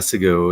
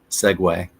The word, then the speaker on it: segue: them both together but it's not a seu it's segue and that's what I